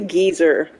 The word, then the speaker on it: geyser: you guys ever heard how British people pronounce geyser no no how I didn't know this until uh geology class they say gezer it's something like or